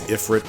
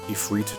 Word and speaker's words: Ifrit: Yeah, it's spelled Iflight when we defeat him, but it is Ifrit or Ifrit depending on how you want to pronounce it. I know some cultures pronounce it differently.